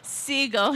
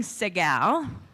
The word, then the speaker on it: Segal: Instead of Segal, he was saying Segal, which made me seem a little fancier.